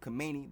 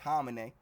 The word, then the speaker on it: Khamenei: It says Iran Supreme Leader Ayatollah Ali, I always pronounced it Khamenei, but I think it's pronounced Khamenei.